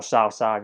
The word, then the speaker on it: Cao Cao: Cao, there's nothing more to say about Cao, or Cao Cao, you pronounce it.